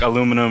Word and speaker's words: aluminum: Well, the pronunciation is slightly different. Like much like aluminum or aluminium.